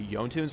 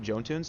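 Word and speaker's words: Jotunn's Wrath: wait on the Spirit Robe, picking up a Yontune's Wrath is not terrible. And yes, it is Yontunes. Don't pronounce it Jontunes.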